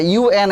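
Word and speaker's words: UN: এটাকে আন বললে হবে না, ইউএন এইভাবে উচ্চারণ করতে হবে।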